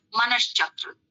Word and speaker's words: मनश्चक्र: तो उच्चारण कैसा हुआ? मनश्चक्र।